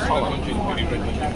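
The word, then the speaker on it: Colm: But it's pronounced Colin.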